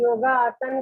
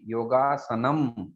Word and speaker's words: योगासनं: आपका उच्चारण ठीक नहीं है माता जी, फिर योगासन कह रही हैं आप।